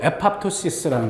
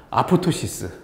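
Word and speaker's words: apoptosis: 일본 애들 왜 말이 좀 이상하게 발음 말해가지고 그게 그대로 들어와서 아포토시스 이렇게. 근데 영어로 발음은 에팝토시스 다 P를 다 발음하는 게 맞는 것 같은데 어쨌든 이게 자 다시 한번 세포 자살.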